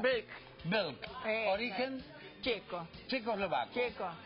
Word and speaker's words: Belk: ¿Cómo se pronuncia? Belk.